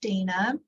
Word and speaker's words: Dana: spoke yet hello um my name is Dana and I also well in Spanish it's Donna yeah but um I mainly go by Dana um and I'm an